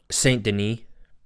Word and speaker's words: Saint-Denis: that last name again St Deni Den not he's he's he's French so you just got to put that little on but Ben wall Stony